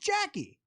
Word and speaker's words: Jacqui: I just thought it was a guy, and I didn't even know that was spelled Jacqui or pronounced Jacqui. I'd never seen it spelled this way, Jacqui.